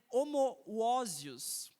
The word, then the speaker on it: homoousios: Chega um certo momento, e Ário usa uma palavra difícil de ser pronunciada, mas é homoousios, que é H-O-M-O-O-U-S-I-O-S, que significa de substância diferente.